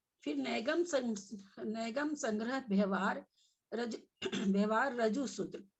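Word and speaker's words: ऋजुसूत्र: फिर नैगम संग्रह व्यवहार व्यवहार रजु सूत्र, कोई कोई रिजु सूत्र बोल रहे थे, यहाँ रिजु सूत्र नहीं होगा, है ना, री नहीं है, ठीक है।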